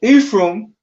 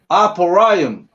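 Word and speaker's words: אפרים: So Ephraim in the Hebrew is Aparayim, right?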